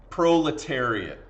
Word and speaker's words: proletariat: you this word here proletariat is how you say that word proletariat okay proletariat is